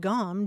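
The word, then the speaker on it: gaum: Regional English you would have found this word Gom g-a-u-m and it's it's as you as you suggested it's spelled a couple of different several different ways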